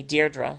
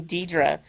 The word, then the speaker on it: Deirdre: time, but yeah, there's an extra R in my name that's not in Deidre. So, but even my own father, he never called me Deirdre. He always called me Deidre. So it's like, ah, say it right.